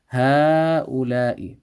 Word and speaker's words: هؤلاء: And the same thing here. There's an alif that is going to be pronounced, so we're going to stretch the ha, but we're not going to write the alif. هؤلاء.